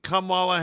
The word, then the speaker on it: Kamala: Everyone thinks it's going to be Kamala Harris and Trump, but it's really going to be Travis Kelce and Taylor Swift to spark this off.